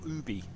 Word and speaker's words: Ubisoft: year we tweeted Ubisoft to say do you pronounce it UB or Ubie and they confirmed it is pronounced Ubi all